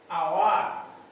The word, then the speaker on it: hour: আচ্ছা, আর একটা কিছু শিখিয়ে দিই, যেমন দেখো আওয়ার, অনেস্ট, এইখানে দেখো এটা হাওয়ার উচ্চারণ হয় না, আওয়ার উচ্চারণ হয়. ও আসছে না, ও হচ্ছে ভয়েল সাউন্ড. ও এটা এইচ কিন্তু সাইলেন্ট থাকে, মনে রাখবে এইচ হচ্ছে সাইলেন্ট.